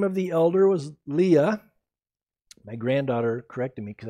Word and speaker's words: Leah: okay i'll call her leah so leah instead of leia i always thought it was leia but she said grandpa you can't keep calling her leia her name is leah otherwise it would be spelled like this and i was like oh okay you're 14.